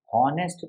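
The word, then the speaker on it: honest: ऑनेस्ट मैन, इसमें जो एच है ये क्या होता है, साइलेंट होता है, ऑनेस्ट थोड़ी पढ़ते हैं, ऑनेस्ट पढ़ते हैं, इसीलिए ओ का साउंड आया, तो एन ऑनेस्ट मैन।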